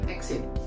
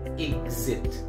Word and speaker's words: exit: Alright, remember, not exit, but exit.